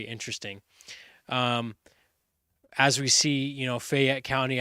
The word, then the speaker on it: Fayette: Um, as we see, Fayette County, I don't know where Matt got the extra syllable from, calling it Fayette County.